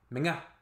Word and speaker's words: mga: I have noticed that was one of the, for learning Tagalog, that's one of the more difficult pronunciations, like MGA, and it's quite an important part of the Filipino, just linguistically, to get that down. Menga.